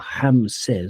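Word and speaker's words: Ramesses: because she wanted a Rammeses or Hames as they pronounce it in Brazil but Rammeses for a child.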